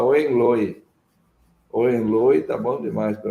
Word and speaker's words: Hohenlohe: Então, se tiver alguma coisa de alemão aí, o H normalmente é aspirado na pronúncia, seria Hohenlohe, mas é duro ficar falando isso, né? Eu prefiro falar Hohenlohe.